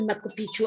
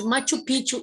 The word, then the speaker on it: Machu Picchu: button city yes three machu picchu in peru was an ancient city yes machu picchu it's not a makopichu i cannot pronounce it i couldn't pronounce it it is machu picchu in peru was an